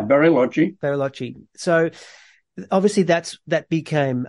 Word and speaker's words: Bariloche: Do you think, so if we go to the town of, is it Bariloche? Is that how you pronounce it? Yeah, Bariloche.